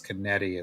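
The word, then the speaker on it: Canete: So I always said it wrong until my friend was like, "No, man, it's Canetti. It's like you see it, it's how it's spelled. Just say it."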